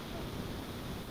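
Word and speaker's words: hour: the part for அன் ஹவர் ஐ was waiting in the part bar அன் ஹவர் ஏ ஹவர்னு சொல்றது இல்லைன்னா H silent she receive the award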